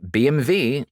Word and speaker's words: BMW: like i said before the w in german is pronounced as a v so the mid and